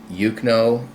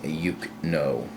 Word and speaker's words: Eucno: It's Eucno. That's EUCNO.